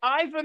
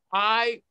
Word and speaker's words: Iwan: Is it Ivan or Iwan? It's Iwan, and he doesn't like it when people spell it Ivan, but that's the way, you know.